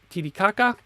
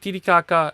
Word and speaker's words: Titicaca: 39 years old so Lake Titicaca if you use a Spanish pronunciation although I read is titi kaka local dialect don't know that much